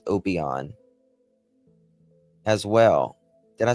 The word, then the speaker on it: Obion: Is it Why does it say Obian County Jail, but over here it says Obon as well?